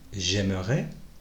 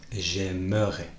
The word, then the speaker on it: j'aimerais: J'aimerais, tu aimerais, il aimerait, nous aimerions, vous aimeriez, ils aimeraient. Tu remarques que là, dans ma prononciation, je prononce bien le E, j'aimerais.